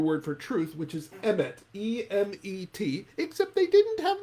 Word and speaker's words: emet: The Hebrew word for truth, which is emet.